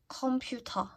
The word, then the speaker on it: 컴퓨터: 컴퓨터. 컴퓨터. The reason why I always pick this is because they're aspirated.